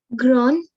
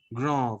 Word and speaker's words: grand: Gron. No, D is pronounced at the end. No. Gra. Grand, very good.